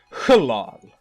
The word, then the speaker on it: Hlal: So, yeah, Herald of Hlal, or actually it is pronounced Hlal, sort of.